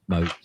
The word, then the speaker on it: Moats: I said Mott's, but he corrected me. It was Moats.